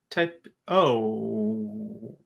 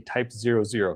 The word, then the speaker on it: Type 00: Type O. That's Yeah, what people say when they see it. It's. I think I read somewhere it's called the Type 00. That's how you're supposed to pronounce it.